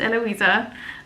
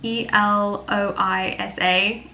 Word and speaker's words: Eloisa: you who are unsure that character's name is pronounced eloisa I know it's spelled funny um I don't know why fantasy authors do this we spell names weird cuz it looks more like Arty but it's spelled e l o i s a um and I don't